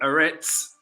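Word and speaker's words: אֶרֶץ: land another land assarets if we go to the hebrew once again they pronounce it eretz aretz that's how they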